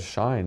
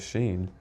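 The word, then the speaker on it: Shein: he was mispronouncing, like he said shine instead of sheen, the company, and I was Right. like it was just not the right time. But I don't want to pull someone to the side later and say, oh, just so you know, it's pronounced sheen, not shine.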